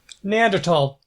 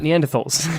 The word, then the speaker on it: Neanderthal: I believe Neanderthal is probably the more common pronunciation, but Neanderthal is historically more correct. I think it's a German or Swiss name for a place where some bones were found. It's Neander and Thal.